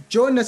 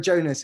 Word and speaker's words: Jonas: I was going to go for Jonas there, which is a problem with the pronunciation now, isn't it? Everyone forgets it. It's okay. No, it was my Jonas was coming out with a Indian twang.